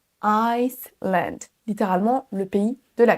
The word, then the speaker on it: Iceland: Ne confondez pas island, l'île, avec Iceland. Iceland, qui correspond à l'Islande.